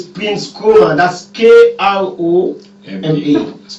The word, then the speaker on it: Kroma: My Koma, fortunately, is spelled K-R-O-M-A, not K-O-R-O-M-A. So I'm Kroma.